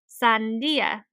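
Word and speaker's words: sandía: The syllable that includes the accent mark is the syllable that is stressed and emphasized. So if we were to put emphasis on the syllable where the accent mark is in the word for watermelon, we would say sandia instead of sandia.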